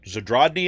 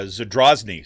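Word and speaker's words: Zadrozny: uh bradney brandy's or zadrodney i think is how you say her name um yeah zadrazni so drasney she's like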